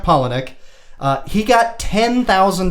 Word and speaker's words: Palahniuk: very hard to spell very hard to pronounce but i heard him say it it's chuck palahniuk uh he got ten